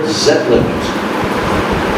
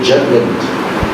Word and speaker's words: Zetland: So he met with a person who was very aristocratic, Lord Zetland. You would say Jetland. That's how Bengalis and Koreans pronounce the Z syllable. They pronounce it J.